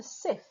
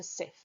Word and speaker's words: Cif: the UK called Jif, J-I-F, changing it to Cif, C-I-F.